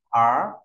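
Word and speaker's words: 儿: Theo ta có từ nhi là về nhi đồng, phẩy này, sổ uốn tròn và móc lên, ta đọc là gì ạ? Ở, lớp cùng đọc ở, ở.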